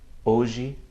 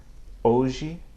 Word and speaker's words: hoje: Examples: hoje, história. Again, hoje, história. I'm not pronouncing any audible H sound as you might hear in English.